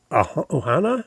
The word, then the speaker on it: ohana: Um, I know people from there and they talk about their is it their ohana? Is that how they say it? Yes. Family.